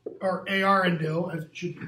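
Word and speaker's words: Eärendil: Irindil. Or Arindil, as it should be pronounced.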